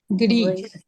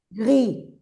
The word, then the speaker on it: gris: Por ejemplo, esto es igual que en español, pero es el mismo color, pero la s no se pronuncia. Entonces, ¿cómo quedará? Gri. Gri.